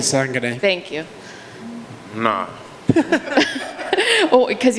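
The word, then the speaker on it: Kasanganay: Impa, I don't know how to pronounce his last name. Kisangane.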